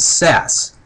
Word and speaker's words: SaaS: you've heard of it it's called SAS and it's spelled a little bit differently it's sa a a s and what SAS means